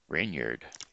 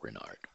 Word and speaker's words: Reynard: Renyard. Renyard. Renard. We'll go with Renard. It's spelled R-E-Y and A-R-D, so we'll just call it Renard.